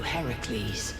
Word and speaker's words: Heracles: hul no Heracles ah Heracles is Hercules but Hercules is the Roman pronunciation there you go but